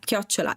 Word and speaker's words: chiocciola: This one is actually, yeah, chiocciola.